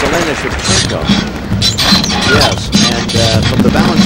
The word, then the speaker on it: Shevchenko: Excuse me, it's Elena Shevchenko.